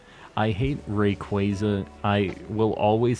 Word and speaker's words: Rayquaza: I pronounce Rayquaza by pronouncing qua like quad Rayquaza yeah that's how I